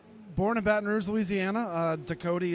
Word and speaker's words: Ducote: Ducote is a Cajun French name. So you nailed the pronunciation of it.